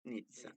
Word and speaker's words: Nizza: Nizza. Nizza, come pizza.